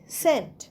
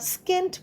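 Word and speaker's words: scent: যেমন example S সিই এনটি সেন্ট। এখানে দেখো সিটা কিন্তু উচ্চারণ হচ্ছে না। তো আমরা স্কেন্ট বলছি না। সেন্ট বলছি। এসই এনটির উচ্চারণটা শুধু হচ্ছে। সি এর উচ্চারণ হচ্ছে না। আবার আরেকটা শব্দ দেখি।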